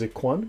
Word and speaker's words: ikhwan: And the word most used is ikhwan, brethren, right? Pronounced khwan.